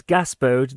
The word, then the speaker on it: Gaspode: As for how to pronounce those words, it's Gaspode the Wonder Dog.